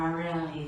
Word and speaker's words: Abril: My name is Abril, or Abril, if you prefer to roll your R's that way.